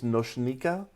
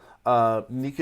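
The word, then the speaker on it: Nočnica: applications my name is nochnika nika is fine if you're having trouble pronouncing nika i am a developer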